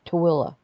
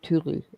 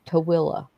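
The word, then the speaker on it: Tooele: I mean, it's called it's T O O E L L E and it's spelled it's pronounced Tilla. Yeah, that makes no sense. Instead of tuli, it's Tilla.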